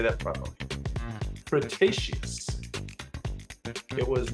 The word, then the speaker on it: Cretaceous: this prehistoric flying reptile lived during the late pretious Cretaceous I'm sorry I don't didn't say that properly Cretaceous it was not a dinosaur but a type